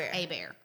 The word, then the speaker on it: Hebert: It's spelled Hebert and pronounced Hebert. So whenever you see, like with Kelsey, she said her name was Hebert and they misspelled it. We did not. That is Louisiana French spelling for you.